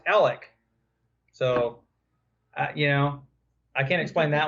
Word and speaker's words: Alex: Well, and just real quick, there's a town not far from Chickasha, spelled Alex, and it's pronounced Alec.